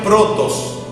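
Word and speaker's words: πρῶτος: Esta palabra primero se pronuncia protos, y significa en este contexto el primordial en rango.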